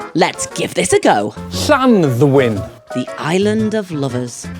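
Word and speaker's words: Llanddwyn: beautiful but its name we've heard this called landwin Clan win or the safest bet of all the island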